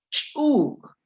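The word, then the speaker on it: ch'úuk: La primera palabra, chuk, es una vocal con tono, chuk. Pero en la segunda columna el sonido es ch, chuk, espiar. El primero es chuk, el otro es chuk. ¿Dónde sale el sonido? Sale exactamente del mismo lugar, solo que cuando suena con la vocal glotalizada, hago más fuerza como para que no salga el aire.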